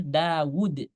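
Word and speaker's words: داود: Ini tulisannya sebenarnya nggak ada waw kecil. Dawud. Tapi bacanya Dawud.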